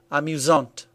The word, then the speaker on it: amusante: This means that the masculine version is pronounced amusant with a silent T, and the feminine version is pronounced amusante with a T pronounced clearly.